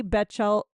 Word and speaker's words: Batchelder: Hallie Batchelder. Okay, I'm going to spell it Batchelder in case you want to creep her on Instagram.